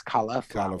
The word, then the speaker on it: cauliflower: But anyway, cauliflower, which I pronounce properly, it's not cali, it's cauliflower.